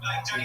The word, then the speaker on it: Gianni: Gianni. Oh God, you gotta spell that for us. Like Johnny, but.